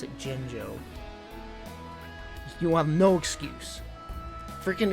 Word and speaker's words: Jinjo: out on the smash people now no to pronounce it jinjo you want no excuse freaking his final smash